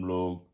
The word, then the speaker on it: Lugh: i usually pronounce it log slight g and a h at the end but uh it is pronounced lu l-o-o that's just my um